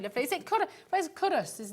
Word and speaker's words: Culross: Where's Currus? Is like really near. It's spelt Culross, but it's pronounced Currus, isn't it?